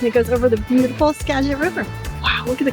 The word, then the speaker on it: Skagit: And it goes over the beautiful Skagit River. Wow, look at the color. And it's pronounced Skagit? Skagit, yeah, we learned that. It's not Skagit. Skagit. Ja. Skagit.